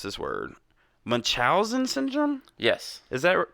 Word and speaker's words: Munchausen: So how do you pronounce it? Munchausen syndrome. Munchausen.